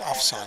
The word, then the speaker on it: Afsan: here offsan's Vlog says hey you pronounced my name wrong it's afsan I apologize for that off song I hope I said it right that time I'm sensitive about that